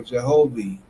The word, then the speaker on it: Jehovih: said e o or e which is now pronounced or Jehovi and which is the true equal length cross and with the leaf of life in the midst.